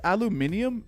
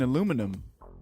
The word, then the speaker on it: aluminium: It's the British version. It's spelled different as well, though, right? I thought it was just said different.